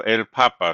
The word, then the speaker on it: papa: So, el papa. So, the stress is still on the second to last syllable.